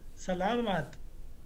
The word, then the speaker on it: salamat: Oh, salamat.